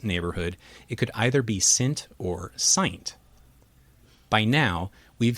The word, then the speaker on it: SINT: In this case, the correct pronunciation should sound like pint, not mint.